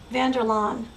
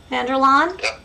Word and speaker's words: Vanderlaan: i always mispronounce words vanderlon vanderlon okay it's a what name a good old test name oh it's a dutch name vanderlon thank you